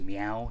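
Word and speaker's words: Miyao: name, but you know, phonetically it's pronounced Meow. You know, like the noise a cat makes.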